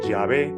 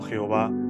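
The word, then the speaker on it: Yahvé: no en este caso sería más acertado la pronunciación llave que es lo que los erudito coinciden en su mayoría más que el término Jehová que como podemos ver aquí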